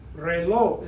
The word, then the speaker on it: reloj: That's why reloj is pronounced reloj. We don't say reloj, reloj, reloj. The stress is on the O where it's supposed to be.